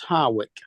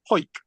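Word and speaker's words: Hawick: We've got one that's called, it's spelled Harwick, which you would think would be easy to say as Harwick, wouldn't you? Yeah. Except for the fact that it's pronounced Hoik.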